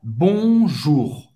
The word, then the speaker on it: bonjour: O R no final você vai ter que pronunciar. O U em francês tem o som da letra U em português. Então é simples. Vamos lá. Bonjour. Só trabalhar esse R no final da palavra.